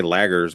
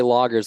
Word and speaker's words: lager: It's like I want to say lagers, but it's not lagers. You just say loggers like LOG.